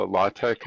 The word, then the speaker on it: LaTeX: I guess my involvement is with professional publishing as a consultant and I would call myself a LaTeX expert.